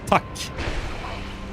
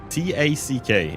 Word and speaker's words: tack: It is that word is only tack. Like T-A-C-K is how we spell it. Like if something is tacky, tack.